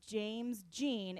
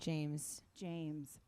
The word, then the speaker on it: James Jean: It's James Jean. It's not James Dean. Close. Not Norma Jean. No. James Jean.